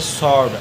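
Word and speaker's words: sword: पढ़ेंगे आंसर अगला है एस डब्लू ओ आर डी एस के डब्लू आ रहा है इसलिए यह डब्लू साइलेंट इसको पढ़ेंगे सड अगला नियम नंबर दो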